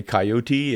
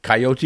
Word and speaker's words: coyote: Y partner I think if you're Spanish you say coyote and if you want to say it coyote you can do that coyote uh and you can say y you can say coyote where I grew up in the plains of South Dakota we said coyote it's like oh there's a coyote but then I started hunting down south with some Texans and it was coyote or coyote so I'll say it